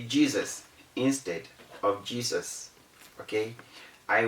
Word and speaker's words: Jesus: do not say desire how do you mention j e s u s a lot of people say jesus but the rule says the word should be mentioned as jesus it has that z sound because the s is between e and u you see how passionate